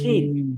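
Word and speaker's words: ش: Scene বলবো না শিন বলেন তো?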